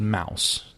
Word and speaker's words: Maus: for about $16 but she's like it's called Mouse and I'm like Mouse what she's like no it's it's spelled the German Way m a u s it's about the